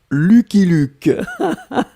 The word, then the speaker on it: Lucky Luke: Alors, les Français prononcent Lucky Luke.